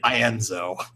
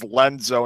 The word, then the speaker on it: Ienzo: And suddenly we get Ienzo. or as Evan puts it, Evan/Vexen puts it, Ienzo. Ienzo. Originally, I thought it was Lenzo until I realized Zexion spelled with an I.